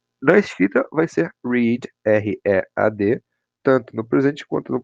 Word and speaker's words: read: Por exemplo, no presente, to read, e no passado, read. Parecido lá com a pronúncia da cor vermelha, né? Então, read, read, ok?